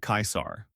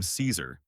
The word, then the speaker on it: Caesar: To say it correctly, you want to say something like Kaisar. Hard K, I, and Sar rhymes with car.